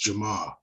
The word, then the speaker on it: Jamaa: from chicago know that there's there's no r in our language and so uh to say to say my name in chicago is just jamaa and so the r is not ever pronounced but yeah you nailed